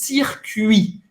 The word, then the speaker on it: circuit: Então, circuito em francês, circuit. Oui. Para fazer esse U, faz a boca do U e fala aí. U, circuit. Você não vai pronunciar o T no final.